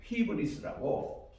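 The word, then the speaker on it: ὕβρις: 죄의 뿌리는 그 보면 히브리스라고 이게 이제 교만이란 말이거든요 여기 보면 귀가 거친 신부이기 때문에 h 발음이 들어갑니다 그리고 입실로 오니까 해야 돼요 그리고 매 타 시그마해서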